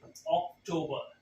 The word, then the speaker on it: October: Okay, the correct way to say this is October.